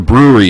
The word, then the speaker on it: Breuery: That's the Brewery is spelled Breuery, and if you're planning on going, you're not familiar with that establishment, it's off the 57 at Orangethorpe.